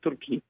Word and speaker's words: Turki: You know, the Indians pronounce not Turkey, they say Turki.